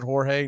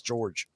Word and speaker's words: George: last series George Soriano George this is pronouncing Jorge nothing it's George laughs of course it